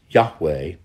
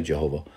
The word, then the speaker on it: Yahweh: is not the exact way it should be pronounced nevertheless it's Yahweh or if you want you can say Jehovah one God but who is this God that's